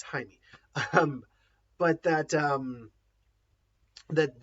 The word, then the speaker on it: Jaime: high in here is it's spelled with a J but it's Jaime um but that um